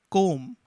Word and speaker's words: comb: underline t next one combo this is pronounced as comb and you can easily notice that the letter b is not heard so we will underline